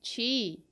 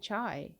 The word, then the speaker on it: Qi: It's Chi. Or is it Chai? No, it must be Chi. It uses the Chinese Q sound, which is a ch, I guess.